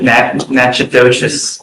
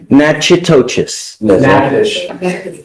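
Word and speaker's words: Natchitoches: Um, you are wanted out of Louisiana Nachos Parish. I'm going to I butchered the pronunciation, but Nachois.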